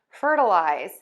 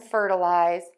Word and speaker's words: fertilize: And that is that we're going to use this short sound in the middle of the word, that schwa sound. And the reason is that as words get longer, the beats get shorter. And so we're oftentimes going to have that short, quick schwa sound in a longer word.